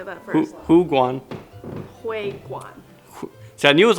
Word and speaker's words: 湖广会馆: Hu Guan. Hui Guan.